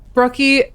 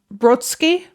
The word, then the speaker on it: Brodsky: I have the correct pronunciations here. Okay, so it's Brodsky and Wojcicki.